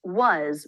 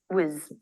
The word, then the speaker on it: was: reduction on its own it's pronounced was with the a as in butter vowel but in a sentence we often reduce it to the schah making it very fast whz whz just start with the